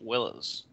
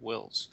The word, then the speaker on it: Willes: But my last name is pronounced Willis. Like, you know, that's funny because I saw news clips and they pronounced your name. they pronounce Willis, and then sometimes they get it wrong and they do the same thing, call me Wills. But Wills is like W I L L S, not E S.